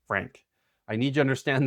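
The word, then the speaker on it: Phranque: Its name is Frank, which the way it's spelled it's almost like you'd say Fronk. It's spelled p h r a n q u e but pronounced Frank.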